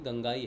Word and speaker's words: गंगाई: गुरुदेव ने भी दादा गुरुदेव के बारे में बताया था कि उनका नाम गंगा नहीं गंगाई है।